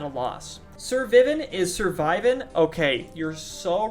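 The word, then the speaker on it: Sir Vyvin: Sir Vivin is surviving? Okay, you're so right. Thank you. You've changed my life. His name's actually pronounced Survivin, not Sir Vivin. Good call. It's a pun.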